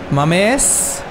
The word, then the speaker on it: Mamés: Mamés. Die Betonung auf dem E, auf jeden Fall.